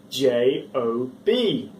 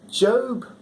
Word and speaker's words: Job: no no i'm telling you it's spelt j-o-b no it's not job it's job good morning